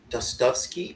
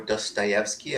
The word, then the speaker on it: Dostoevsky: This is a story from Fyodor Dostoevsky or Dostoevsky. I've heard it pronounced both ways.